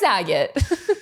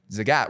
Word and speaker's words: Zagat: What was Zaget? Zagat. Zagat, which we learned in the process of acquiring it is how you pronounce it. Zagat like the cat.